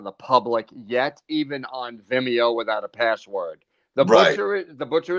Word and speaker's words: Vimeo: helps you mount more if it's watched on vidmo than youtube i imagine right so you can